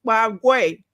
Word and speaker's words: Paraguay: And before you guys start, it's Paraguay, not Paraguay.